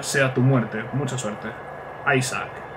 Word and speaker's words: Isaac: Isaac. Porque es Isaac, no Isaac.